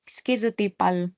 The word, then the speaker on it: schizotypal: Finally, schizotypal. Some they pronounce it as schizotypal.